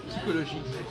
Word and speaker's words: psychologie: Psychologie. On dit psychologia. C'est-à-dire que le CH, normalement il doit se prononcer re et pas che.